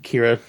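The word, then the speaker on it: Qi'ra: Clarke as Kira Kira I'm annoyed they spell it the Klingon way with a Q apostrophe a Qi apostrophe RA I'm like Lima and that's a very pick that's a Klingon way of spelling it pick right there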